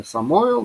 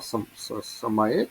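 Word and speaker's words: סמאל: В комбалистической традиции его зовут Вашкинавском произношении Самоэл, да? Самаэль.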